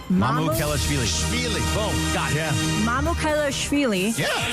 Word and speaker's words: Mamukelashvili: agreed to Alex is the easiest way to pronounce it. Mamukelashvili. Mamukelashvili. Mamukelashvili.